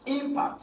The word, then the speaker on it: impact: these two words impact impact is a noun so the first uh syllable is stressed impact is the powerful